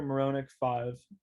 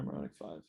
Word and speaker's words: Marohnic: my tick tock is um it's uh muronek5 so it's going to be just spelled normally and then my last name is spelled m-a-r-o-h-n-i-c and just the number five so moronic5 yeah i just started it so i've only